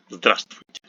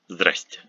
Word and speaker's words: здравствуйте: We have a cluster of consonants vsatv, which is too long, and we drop on the first v, which gives us здравствуйте, здравствуйте, without здравствуйте. Or even many people pronounce it as здрасте, здрасте. So half of the letters are dropped.